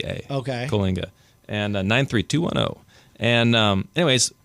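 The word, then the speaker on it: Coalinga: this little town named Kinga Kinga how do you spell that c well yeah how you spell it and how you say it are two different things but um c o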